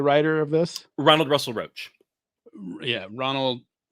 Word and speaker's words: Roach: Ronald Russell Roach. Yeah, Ronald. How do you say his last name? Russell Roach. like Russell a cockroach. Roach. Yeah, Russell Roach.